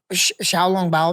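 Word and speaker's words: xiaolongbao: Xiaolong Bao, maybe I'm saying that wrong.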